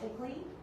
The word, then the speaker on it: ICLEI: That acronym is pronounced KICLEI, and it's all over the reports for our municipalities.